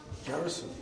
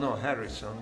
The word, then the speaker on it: garrison: Not Harrison, but Garrison.